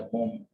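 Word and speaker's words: bomb: और इसके बाद जो वर्ड है ये है बॉम्ब, यानी इसमें बी नहीं पढ़ी जाती, बॉम्ब नहीं पढ़ा जाता, इसको बॉम्ब पढ़ा जाता है, बॉम्ब।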